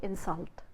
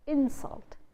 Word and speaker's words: insult: You are insulting me, then you can say insult, but otherwise you say insult.